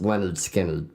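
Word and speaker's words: Lynyrd Skynyrd: But it was pronounced Leonard Skinner, which is basically telling you how to pronounce their name.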